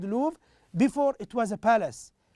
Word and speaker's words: Louvre: It's pronounced as Louvre here. It's a French word, so we can say the Louvre.